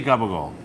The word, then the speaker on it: gabagool: Called capicola, but in Yes. Italian it's pronounced. Well, we say gabagool.